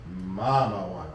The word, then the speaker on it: Mamajuana: Make sure you pronounce it correct. It's Mamajuana, not.